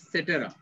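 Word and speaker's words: et cetera: ওকে এখানে যেমন ইটিসি ইটিসির পুরো উচ্চারণ কিন্তু সেটেরা তো পরে আসি রেইন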